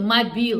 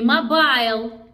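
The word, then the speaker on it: Mobile: лирическое отступление лирическое отступление город Мобил произносится Мобил не Мобайл как Мобайл или как Мобил не как мобильный телефон когда-то сюда приехали французы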